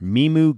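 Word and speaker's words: MiMU: your other technology endeavor meemu gloves am i saying it right imogen yeah like me and music that's right right so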